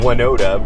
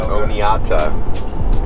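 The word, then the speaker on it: Oneonta: what i call it i call it winoda but i guess i guess the locusts call it oneota it's it's just the how i space out the syllables there which makes sense it's o me and e oneoda yeah yeah so anyways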